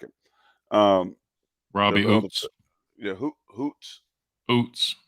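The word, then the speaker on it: Ouzts: like it um yeah Hoots Hoots it's like o-u-z-t-s with the Z is silent I like it he's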